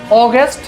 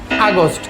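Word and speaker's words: August: আমরা যেভাবে বলি সেখানে হালকা একটু জিব্বায় বাড়ি দিয়ে উচ্চারণ করা যেতে পারে। সেটা হচ্ছে জুলাই। ওকে। এরপরের মাসের প্রনান্সিয়েশন হচ্ছে অগস্ট। কিন্তু বাঙালিরা আমরা এটার প্রনান্সিয়েশন হয়েছে আগস্ট।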